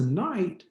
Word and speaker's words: knight: already pronounced need but we didn't say that k when we got to knight afterwards we could kind of say well based on that i can kind of predict or i can build on what i already know that i probably don't need to pronounce that k we're going to use